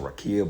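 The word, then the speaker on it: רקיע: think it's like well they pronounce it rakia but it means rakaya or ra akaya can't really pronounce it selakia but uh they say rakia but it's uh it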